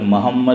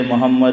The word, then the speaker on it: محمد: یہاں ایک بات یاد رکھیے، بعض لوگ محمد محمد بولتے ہیں، ہم گجراتی لوگ خاص کر. یہ تلفظ غلط ہے، اور اس کا نقصان کیا ہوتا ہے؟